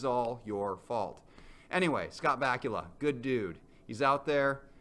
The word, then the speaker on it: Bakula: play in college now Scott Bakula is one of the only actor names I can remember because it rhymes with Count Dracula more importantly he was